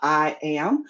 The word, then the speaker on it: IAAM: So I am as we actually pronounce our abbreviation I AAM we pronounce it I am uh is located at